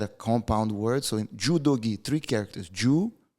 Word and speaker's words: judogi: a compound word so judogi three characters since it's the third character it's not the first it's pronounced with a G so what am I